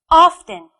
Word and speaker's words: often: Often. Can you guess where the stress is? Often. Well done. It's on the first syllable.